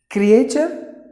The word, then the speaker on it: creature: Okay, the last word is creature. Please. No, not like that. No, creature, creature, creature. Letter E is silent and the letter R is silent. The T-U is pronounced like cha, like it, cha, it, cha, like that.